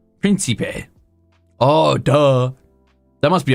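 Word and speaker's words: prinsipe: Pronounce that for me. Oh, that's Prince. Principe. Principe.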